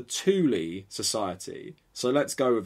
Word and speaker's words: Thule: different definitions online it to me t-h-u-l would be like fuel or something but apparently it's the thule society so let's go with that the thule society drop the h